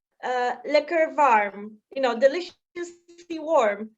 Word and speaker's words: lekker: can't go wrong with liquor so uh yeah it sounds like liquor yeah it's like lacquer but yeah delicious l-e-k-k-e-r this liquor is liquor